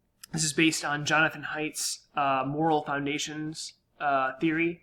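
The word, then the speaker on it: Haidt: is based on jonathan heights uh moral foundations uh theory right basically jonathan height that's spelled h-a-i-d-t he argued that we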